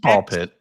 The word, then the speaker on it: Ball x Pit: Oh, it's just ball pit. Pit. Old times pit. No, ball pit. new game that is spelled ball x pit but is I guess not pronounced like that.